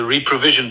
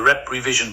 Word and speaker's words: Reprevision: The reprovision project, I'm guessing.